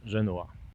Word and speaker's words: Genoa: Jest Genua we Włoszech, natomiast tutaj nazwę miejscowości wymawia się Genua.